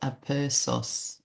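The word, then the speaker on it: aperçu: So I just pop it over to Google and uh oh look a percus pronounced a peros a perso is a French word.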